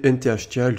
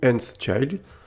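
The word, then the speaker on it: nth-child: Donc on va utiliser nthchild ou nthchild. Ça dépend comme vous voulez le prononcer.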